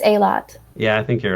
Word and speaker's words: Eilat: You know how to pronounce it, Tonery? I think it's Eilat.